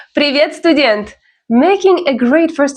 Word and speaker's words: Привет: Привет. The stress is on the second syllable. Repeat after me. Привет.